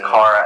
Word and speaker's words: Kara: She's like, no, it's Kara. And they're like, are you sure about that? Are you sure it's on heavy K?